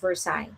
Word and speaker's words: Versailles: Oh, they said it's pronounced Versailles.